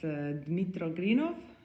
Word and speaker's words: Dmytro Grynov: Here we are with Dmytro Grynov.